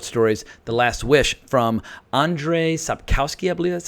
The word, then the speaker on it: Andrzej Sapkowski: collection of short stories the last wish from Andrzej Sapkowski ibly that's how you say his name these